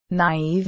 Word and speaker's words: naive: the two little dots know that it is there to tell the reader to pronounce the second vowel independently of the first naive and the names of